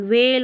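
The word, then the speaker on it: whale: है व और एल व्हेल हो गया व्हेल आप ह का साउंड नहीं आएगा तो क्योंकि ह ये एच है ना वो अक्सर साइलेंट ही रहता है तो व्हेल पढ़ते हैं आप व्हेल जो फिश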